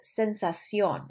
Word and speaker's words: sensación: Sensación, this means an emphasis on the O, de ardor al orinar.